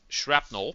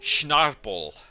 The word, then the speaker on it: shrapnel: She mispronounced the word shrapnel because she's a Belgian girl, so basically Dutch. She didn't really, I think, slightly dyslexic as well. She pronounced it as schnarpel.